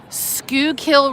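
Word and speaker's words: Schuylkill: And when I tell you how that's spelled, you'll you'll never believe it. It's like s c h u y e l l k y l something something something.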